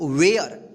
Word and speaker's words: ware: वेयर।